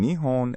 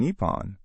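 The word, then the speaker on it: 日本: Now, the difference between nihon and nepon. Both are acceptable, but they're used in different contexts. Nihon is the more common pronunciation in everyday conversation, while nippon is often used in more formal or patriotic contexts.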